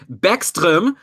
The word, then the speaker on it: Backstrom: you can talk about Nicolas Beckstrom as I learned his name is pronounced by John and my other new Swedish friends so Nicolas Beckstrom is